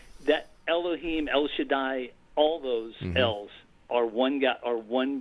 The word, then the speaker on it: El: And you might say, "Well, Gary, how do you know his name is L, which is spelled E L?"